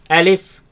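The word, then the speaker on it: ألف: with the first lesson our first letter let's pronounce it together alif alif alif alif alif alif now this letter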